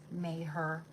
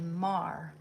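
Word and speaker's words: Maher: Like his name looks like it says may her but it's actually Mar.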